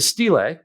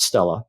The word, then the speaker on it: stele: And I should use Stele, not Stella. Sorry. Is it? That's me. Is it Stele, not It's Stella? Stele. Yeah. Okay, so that's me mispronouncing it.